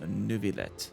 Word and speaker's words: Neuvillette: and honorable Chief Justice Neuvillette. Wonderful. Oh, she actually pronounced it with the L, so Neuvillette.